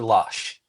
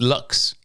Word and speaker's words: Lux: I also remember Uber Lush. And that's how it was pronounced, was lush for Lush. luxurious. Oh, I thought it was Lux with an X. That's how everybody sees it and pronounces it.